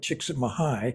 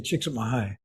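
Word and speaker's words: Csikszentmihalyi: you were amazed that's fabulous and that's with chicks at mahigh which by the way I'm impressed you pronounced it correctly pretty good huh I get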